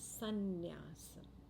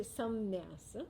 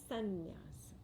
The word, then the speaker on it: sannyasa: In Sanskrit, when sum joins nyasa, the M assimilates into the following N. And the sound becomes sannyasa.